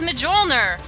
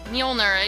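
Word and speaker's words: Mjölnir: out just for reference I pronounced this as mjolner and after claiming to be like a really big fan of um Norse mythology I found out that I completely butchered the pronunciation of that word it's actually mner molner it does not look like me molner at all to me but apparently that's how it's pronounced and chances are I'm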